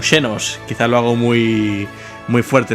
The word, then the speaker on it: Xenos: No puedo evitar pensar en el Valencia cada vez que dices che-nos. Bueno, tendría que pronunciarse como Xenos.